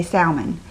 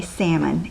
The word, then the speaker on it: salmon: some reason, we say, just like salmonella, we say salmon. And I looked it up and I realized that is not the correct way to say it. So I'm going to say salmon, even though it doesn't, to me, that just doesn't sound right.